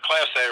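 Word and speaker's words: Clase: The Emmanuel Class A guy is Class A, right? Is that how you pronounce it? Yep. He's the best reliever in baseball, period.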